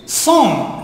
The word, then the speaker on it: cent: But the pronunciation is not cent. Song.